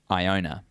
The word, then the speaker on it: Iona: you feel like it it's I not a Iona Thank You Iona there